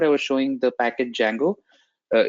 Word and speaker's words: Django: was showing the package Jango uh it starts with d but D is silent so it's called Django not Django uh so